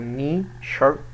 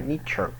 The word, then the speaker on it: nature: نيتشر نيتشر او نيشر، لا نيتشر اللي كده اتنطق نيتشر معناه الطبيعة.